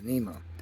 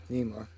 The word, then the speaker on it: NEMA: That's what it sounds like. That's what people say it like. I think it's N-A-E-M. I don't know what the heck. That's right though, right? That's how you say it. NEMA, right?